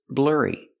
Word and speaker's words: blurry: The image is not clear, so the image is blurry. Pronunciation, use the sound like burger, blurry, like hurry.